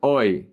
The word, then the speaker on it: hoy: The H is silent. Hoy.